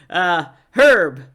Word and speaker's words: herb: Pronounce the H. Why not? Herb.